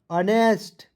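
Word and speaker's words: honest: एन हेन एच ओ एन ई एस टी अनेस्ट सेलमोन ठीक है इसे तो मैं आपको नहीं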